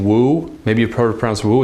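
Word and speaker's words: wu: like the last name woo maybe a program so it's actually pronounced ooh because it's just a U but the W has to be in there in pinging so whoa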